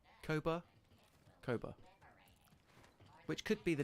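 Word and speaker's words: Koboh: But it's spelled K-O-B-O-H, as you think. But pronounced, I kind of say it. Maybe it's my accent. Cobalt. Koba. Koba?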